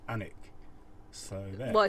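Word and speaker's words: Alnwick: we're going it's spelt ornwick so i think that's what we've been calling it but we found out this actually pronounced anik so there why so you don't pronounce the w or the l right okay let's go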